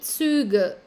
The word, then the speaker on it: Züge: Die Züge.